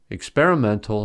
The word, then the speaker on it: experimental: On the other hand, experimental has primary stress on the 4th syllable and secondary stress on the second syllable, since experiment has stress on the second syllable.